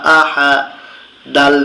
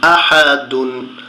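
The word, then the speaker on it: أَحَد: আ, হা জবর হা, আহা, দাল দুই পেশ দুন, আহা দুন। কিন্তু যখন আমরা এখানে থেমে যাব, লাল চিহ্নর এখানে এসে ওয়াকফ করব, তখন উচ্চারণ হবে আহাদ।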